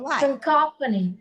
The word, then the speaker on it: cacophony: CACOPHONY. Cacophony. Cacophony. Cacophony. Again, the letter word ending with Y and third last syllable. And the word is cacophony.